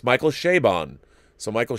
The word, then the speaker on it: Chabon: First of all, I heard Michael Chabon pronounce it. It's Michael Chabon. So Michael Chabon is how it is pronounced.